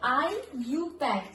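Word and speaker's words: IUPAC: और आईयू पैक आईयू पैक ऐसे नहीं बोलते हैं हम। ठीक है? इसको क्या बोलते हैं? आई यू पैक। आई जैसे ई वाई इ आई यू पैक पी ए सी के ये होता है इसका प्रोनाउंसिएशन।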